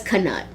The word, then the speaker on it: knut: So it says, according to the LexiCon, the coin is actually pronounced as knut.